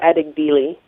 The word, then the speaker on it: Adegbile: glory, and also people like, how do we pronounce the brother's name? Ajibel? Yeah, Debo Adegbile. Debo, or Adegbile.